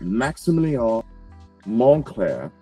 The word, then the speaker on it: Maximilien Monclair: So Monclair has a T in it. So when people say, oh, hey, I'm going to Montclair, California, sometimes they don't pronounce the T when they say it super fast.